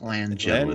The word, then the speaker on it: Langella: Frank Langella. Is how it's pronounced.